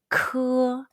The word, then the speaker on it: 科: When you see the English letter K in Pinyin, the pronunciation is 科. It's like the K in the English word kid, but push stronger air out from the very back of your tongue and your throat when you say it.